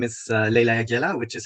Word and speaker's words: Leyla Jagiella: that's fine as well it isn't even the original pronunciation of my family name anyways because it's actually it's a polish name and the original pronunciation